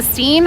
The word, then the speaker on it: Steen: Like Christine, but Steen, and it's spelled phonetically, not like my actual name would be Stein. It would look like Stein.